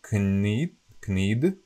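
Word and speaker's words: knead: And this used to be, if you read this with the K, so it's like knid, but I know you pronounce it need, but if you pronounce also the K, so it's knid, and it was gnit, gnit, gnietiť.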